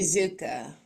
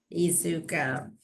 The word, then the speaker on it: Iizuka: Iizuka. Iizuka.